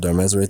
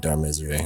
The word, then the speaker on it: Darmesire: Since the key of the red faction is Desire, it's Darmesire. So the way it's spelled is like D, like Darm, and Ezre, so arms and desire, because he has arms, like, not arms as in limbs, but like weapons.